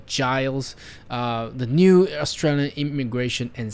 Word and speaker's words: Giles: will be andrew giles i was gonna pronounce guiles but it's actually giles the new australian immigration